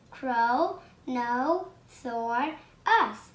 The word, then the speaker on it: Kronosaurus: dancer is a sea monster and it's a kronosaurus i'm going to tell you how to pronounce it crow no sword us ponosaurus and it was a joy in dinosaur